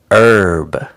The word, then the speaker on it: herb: to your food and in American English we don't pronounce the h in Britain they say